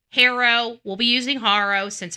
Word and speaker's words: Haro: But hooked on phonics tells me it's a long a and now we're saying it's a a short a. So, harrow harrow, we'll be using haro since everybody else is using harrow.